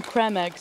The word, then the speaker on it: Creme Egg: I refuse to call them cream eggs and always call them creme eggs because I'm like, it's spelt like creme fraiche.